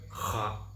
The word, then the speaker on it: خاء: இதடைய உச்சரிப்பு வந்து தொண்டையை அந்த காரி சொல்லணும். ஹா ஹா அந்த நம்ம சளி நம்ம பிடிச்சுக்கிருச்சு. அந்த காரி துப்புற மாதிரி துப்புவோம்ல அந்த சளி இதுல அதுபோல அந்த காரல் சவுண்டு அந்த தொண்டை தொண்டையில வரணும்.